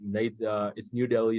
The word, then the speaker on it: Delhi: It's New Delhi. It's not New Delhi.